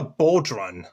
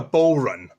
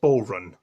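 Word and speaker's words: bodhrán: discovered what it was called it's called a bodun actually no it's not it's called a bow run it's an Irish hrum and it took me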